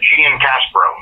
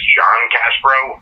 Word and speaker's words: Giancaspro: Yeah, Giancaspro. Giancaspro. Okay. Like the correct Italian pronunciation is John Caspro, but some people just think my name is John Caspro because my first name's John.